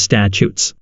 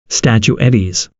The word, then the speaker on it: statutes: I work in the legislative policy field, and my boss pronounces statutes statuettes.